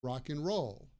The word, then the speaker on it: rock and roll: roll rock and roll usually in everyday spoken English and is pronounced like n or n just the N sound so if I say